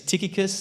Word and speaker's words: Tychicus: name right I mean some have pronounced it as as tuus others say that it's tius but the way I learned it and I've always said it is tikus and so let's stick with that he'll be known as tikus and from now on